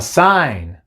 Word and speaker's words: sign: n en este caso la g es muda pero la n no entonces cuando veas una